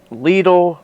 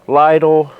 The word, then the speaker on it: Lidl: standard video and uh everybody pronounces it different leedle Lidl whatever you want to call it the other German grocery